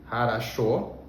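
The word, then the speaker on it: хорошо: Essa palavra tem 3 Os, harasho, mas o último, que a gente pronuncia com mais força, ele tem som de fato de O, e os outros 2 se pronunciam como A, tá bom?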